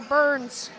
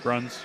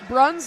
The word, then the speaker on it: Bruns: McCoy nus number 12 Tyler Burns or Bruins Bruns Bruns there you go and then number 15